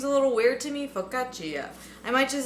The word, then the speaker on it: focaccia: Focaccia pronunciation.